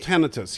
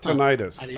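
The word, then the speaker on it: tinnitus: that how it's pronounced it's actually pronounced tenus yes it's not tenius I have that to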